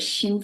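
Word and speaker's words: xin: focus on the word Shin first Shin is spelled as x i n if for your interest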